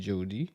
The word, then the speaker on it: Jody: J'aimerais ça qu'on apprenne à connaître c'est qui Jody. Est-ce que je le prononce comme il faut? Jody, oui.